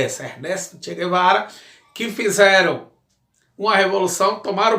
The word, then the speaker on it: Ernesto Che Guevara: A pronúncia é essa, Ernesto Che Guevara, que fizeram uma revolução, tomaram o poder em Cuba, estatizaram empresas privadas de americanos e de cubanos, certo?